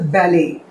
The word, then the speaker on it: ballet: This one is like where T is silent, so we'll pronounce it as a ballet.